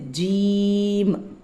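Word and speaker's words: جيم: நடுவுல ஒரு புள்ளி இது ஜீம் ஜீம் ஜீம் ஜீம் அந்த உதடு ஐ மீன் நாக்கினுடைய நடு நாக்கிலிருந்து இது உச்சரிக்கப்படும் ஜீம் அதே மாதிரி இருக்கக்கூடிய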